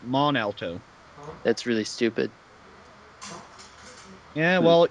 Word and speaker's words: Mont Alto: near where I live that actually has a silent T in the name it's belt Mont Alto but it's actually pronounced mon Alto that's really stupid yeah